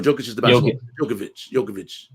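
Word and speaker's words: Djokovic: is the bkb jovic jokovic is the player you know L the D is silent yeah I'm like shanon SH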